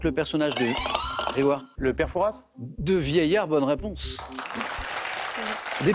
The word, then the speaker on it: Père Fouras: célèbres sinon plus célèbre alors il y a un S alors les puristes prononce pas le S évidemment je vous accorde la bonne réponse on dirait a priori Père Fouras personnages de vierge qui